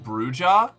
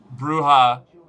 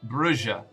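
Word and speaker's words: Brujah: Um, actually, it's pronounced Bruja. You're activating my OCD for language though. It's No, it's lit. No. Katana. Katana. Katana. Don't do this to me. I pronounced it bruha initially. I pronounced it both Brua and or uh uh Bruya and Bruha. But it turns out canonically in the setting it is pronounced Brua.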